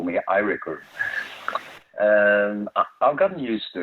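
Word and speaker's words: Eiríkur: Yes, it is, because if I say my first name in Icelandic, it's Eirikur, but A is a sound that doesn't exist in Norwegian, so here they call me Eirikur.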